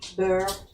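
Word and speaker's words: beurre: How do you say butter in French, Mom? Burr. Bear.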